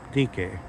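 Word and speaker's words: δίκη: this uh goddess um DK. Um It so happens that the word DK is the same word as the word dike, as it's pronounced differently when you transliterate it that way.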